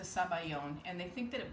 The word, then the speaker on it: sabayon: it that's the custard it's in italian it's zabal yoni in french it's a sabayon and they think that